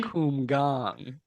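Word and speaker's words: Kumgang: bu Kum gang it's pronounced Kum gang oh Guang Guang down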